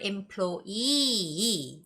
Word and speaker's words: employee: seeing that word and we always see this word employee right the stress goes on where the two E's are employee orientation so it's